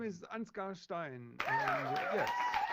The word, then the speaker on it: Ansgar Stein: little bit uh I don't know how to pronounce it my name is anscar Stein and yes she's a funny background I